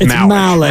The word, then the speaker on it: Malik: Wait, Grandy, did I pronounce that right? Yeah, it's Malik.